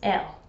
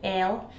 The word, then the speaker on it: I'll: Whereas in Dundee, the I is often said as e, and then I'll comes out as el.